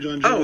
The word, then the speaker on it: John Cho: Is that how you say his name, John Cho?